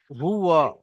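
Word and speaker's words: هُوَ: পরে অসুবিধা হবে ইন্নাহু হুয়া হা পেশ হু ওয়াও জাবার ওয়া হুয়া সকলে মিউট অবস্থায় আমার সঙ্গে সঙ্গে পড়বেন হা পেশ হু ওয়াও জাবার ওয়া ওয়াও উচ্চারণ করার সময় ঠোঁট দুটো গোল হয়ে যায় ওয়াও জাবার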